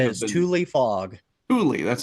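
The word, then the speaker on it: Tule: Thule, that's how you say it.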